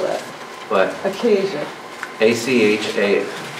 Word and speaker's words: Achaia: Achaia.